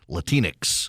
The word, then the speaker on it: Latinx: heck don't call themselves latinx rhymes with Kleenex they don't do it